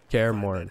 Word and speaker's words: Kaer Morhen: Actually, though, like, Kaer Morhen, that's how you say it.